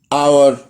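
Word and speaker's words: hour: لا، حرف الاتش ممكن ما يتنطقش لو جاي بعديه حرف الاو. زي ايه؟ تعالى اوريلك زي ايه. honest, ghost, our. هتلاقي هنا حرف الاتش ما اتنطقش عشان حرف الاو جاي بعديه.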